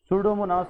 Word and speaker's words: Pseudomonas: सूडोमोनास के बारे में याद रखें, इसमें ये पी साइलेंट है, सो दैट इज सूडोमोनास एरोजिनोसा।